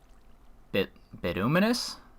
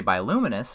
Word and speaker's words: bituminous: And bituminous? I want to say biluminous, but it's not an L. It's a T.